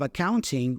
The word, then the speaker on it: accounting: Notice that we have the N-T combination there. Usually, especially in American English, that T goes away, so we pronounce the N instead. So instead of accounting, we hear accounting. The first A there is a schwa sound, by the way.